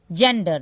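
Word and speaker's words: gender: है कपड़ा होता है जेंडर देखिए यहां पे गारमेंट मैंने पढ़ा जी को और यहां पे जी को ज पढ़ा यानी कि जी ई है तो यहां पे ज पढ़ना है इस बात को ध्यान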